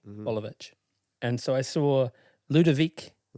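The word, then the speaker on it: Boljevic: His last name is Bolovich and it's spelled B O L J E V I C. Bolivich.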